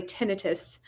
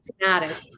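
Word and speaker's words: tinnitus: who have um I'm gonna try to say it correctly, tenitus. I'm from like backwoods West Virginia. So it was always tenatis. Um so tenitus um and they can't sleep because the constant ringing in their ears.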